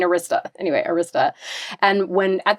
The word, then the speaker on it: Arista: Then he went on to found Arista Records, which my husband, who's British, pronounces Arista. Which he's like, what do you mean Arista?